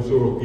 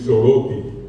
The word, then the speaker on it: Sorotí: en el guaraní paraguayo, Sorotí el acento está al final, y los bolivianos pronuncian el guaraní con acento llano en el medio, es Soroti.